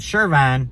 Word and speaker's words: Charvon: Charvon, it's spelled Charvon, the R is silent, and Amanda are both travel agents.